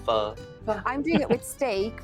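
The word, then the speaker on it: pho: it only takes ten pronouncing it wrong so it's not full it's fur i'm doing it with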